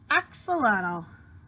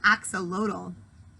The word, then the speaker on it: axolotl: in case you're wondering my name is pronounced axolotl I think I said axial Odle you should have looked